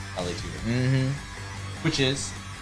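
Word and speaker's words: vale tudo: Nah, he's Valetudo. Valetudo.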